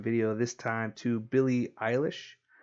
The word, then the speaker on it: Eilish: this time to Billy Eilish it's how you pronounce it I thought it was Elish at first but it's e ili SH so Billy Eilish everything